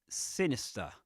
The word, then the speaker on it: sinister: So that speaker says sinister. He doesn't say sinister. Now let's play the American the US pronunciation. Sinister. Sinister. Sinister. Sinister. Do you notice the final R?